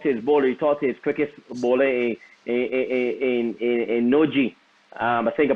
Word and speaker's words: Nortje: bowler, he talked to his cricket bowler in Noji. I think I pronounced his name right. And he did not bowl 150. Nortje.